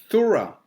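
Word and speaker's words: θύρα: look strong's g 2374 thora does that sound like door to you thora door door thor thora okay and again that's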